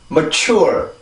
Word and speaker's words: mature: 자, 여기가 지금 강세 음절이죠. 그죠? 두 번째 음절이 강세 음절인데, 여기 보면 지금 시작 자음이 요거예요.